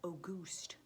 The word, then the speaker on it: Auguste: Another one is called Auguste. It's spelled like the month of August with an E on the end.